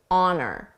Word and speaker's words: on her: For pronunciation, notice how on her sounds like honor, honor, honor. Because we frequently drop the H sound on her, and then I connect those 2 words together, honor.